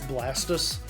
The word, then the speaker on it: Blastoise: the same same reason everybody says blastoise's name wrong it's blastus CU he's a tortoise sure Jam I just